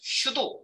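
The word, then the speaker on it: pseudo: 발음이 이렇게 보면 은 한국 사람은 피자 니까 p 세어도 피셔 도 뭐야 도대체 프랑스 어 에서 왔다고 알고 있습니다 자 그래서 키는 부비 그냥 슈도 이렇게 불러요 취소 클래스 이거는 가상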